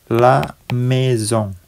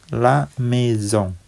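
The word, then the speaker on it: la maison: pantai yang terakhir laamezong laamezong ya artinya rumah laamezong ada a bertemu dengan I diucapkan e kemudian ada S sendirian diucapkan Z ya kemudian ada n di sini yang huruf terakhir itu diucapkan sengau la meong artinya rumah Nah di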